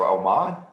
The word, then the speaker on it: Oman: That is the country of Oman, spelled like, oh man, you spilt my water.